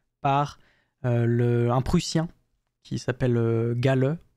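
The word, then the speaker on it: Galle: La première observation, elle est faite par un Prussien qui s'appelle Gale, G-A-2-L-E, je pense que ça se prononce comme ça.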